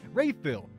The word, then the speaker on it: Rayfil: I'm pretty sure we're gonna name her Rayfil, pronounced like rifle.